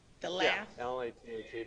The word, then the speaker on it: lath: Yeah, L-A-T-H-E, but it's pronounced lath.